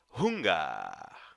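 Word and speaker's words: Hunger: a palavrinha duas duas preste atenção a sua pronúncia e a palavra fome dizemos fuga você pode notar que a palavra unga em alemão é semelhante a palavra fome no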